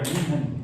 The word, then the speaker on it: München: Porque la U se usa como I, la U con diéresis, I, y la H suena como J. Entonces, München, como una J aplastada.